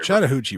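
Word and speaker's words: Chattahoochee: on the the Catt it's a chattahi river chattah huchi river thank you I didn't I didn't want to mispronounce chattahi I want to make sure I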